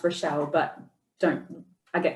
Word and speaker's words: Rachelle: I will correct you though my name's actually pronounced relle but don't I get called Rael oh my goodness I must have a streak